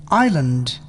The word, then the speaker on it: island: the ammonia psychotherapy psychotic silent s s is not pronounced before L in the following words Island I'm silent T tears